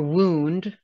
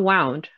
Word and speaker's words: wound: OU like group, soup, or wound, not wound. WOUND can have two pronunciation. That's why I put the word injury next to it. A wound like a place where you got hurt.